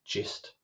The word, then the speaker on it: gist: So gist or gist, I think most people pronounce it gist, like in, you know, oh, I think I've got the gist of this.